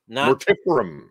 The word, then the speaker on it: Mortiferum: for you man these uh more tip shirts more tifferim we've been saying it wrong all of us